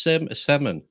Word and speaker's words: salmon: No, it's salmon. No, S-A-L. We don't say that. is there an L in it?